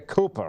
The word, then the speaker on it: Cooper: Now Cynthia, it's Cynthia Cooper, right? That's right. C-O-O-P-E-R. That's right. It's hard to spell. So, C-O-P-P. Oh, it rhymes with super. Copper, C-O-P-E-R, right?